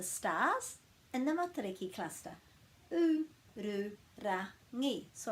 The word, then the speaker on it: Ururangi: U-ru-ra-ngi. So I've already given you the breaks after every vowel. There's a little bit of r going on, so it's a good practice for the r sound. U-ru-ra-ngi.